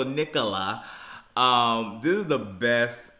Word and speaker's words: Nicola: nickel Nicola Nicola Nicola I also say nickel first and then La so Nicola um this is the